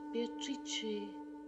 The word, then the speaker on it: Beatrice: It is pronounced Beatrice in Italian, which makes it very beautiful.